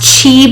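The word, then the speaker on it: qi: is in here um pronounced chi but it starts with a q q i your breath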